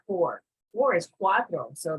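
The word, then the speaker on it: cuatro: not four four is Quattro so the T and the r will be reversed okay for Quattro c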